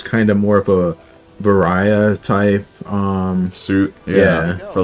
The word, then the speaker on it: Varia: I know some people call it Varia. Yeah. Because I think it stems from like the way the Japanese would pronounce barrier.